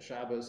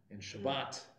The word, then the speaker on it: Shabbat: the 60s and 70s began to learn with a Hebrew Israeli style pronunciation so it's Shabbat and Sukkot and you know that's